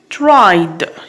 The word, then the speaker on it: tried: Okay, tried, here we have d.